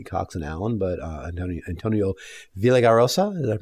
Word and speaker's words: Villaraigosa: race not only Cox and Allen but Antonio Villaraigosa is that pronounce that properly yes okay yes but when